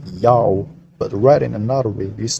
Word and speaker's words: Ya'oh: followed by a vowel the letter wa is a long o vowel because it's not the first letter of a word therefore it's read as